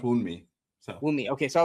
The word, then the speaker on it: Wunmi: Being Wumai. Is it Wumi or Wumai? I've heard it pronounced Wunmi.